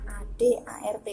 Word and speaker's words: AD/ART: Jadi dibacanya ADART langsung ya, garis miringnya tidak usah dibaca.